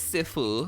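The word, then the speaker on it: 赐福: So it is Sifu. Apparently, like A's have like an E sound in Chinese. Tian Guan Ci Fu.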